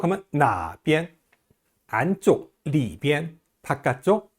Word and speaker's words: 里边: 비엔자가 원래는 제1성인데요. 지시사라든지 방향을 나타내는 낱말 뒤에 오는 비엔자는 약하게 경성으로 발음합니다. 여기, 이쪽 할 때요. 这边, 저쪽, 那边, 어느 쪽 하면 那边, 안쪽, 里边, 바깥쪽, 外边, 오른쪽, 右边, 왼쪽, 左边 이렇게 발음해요.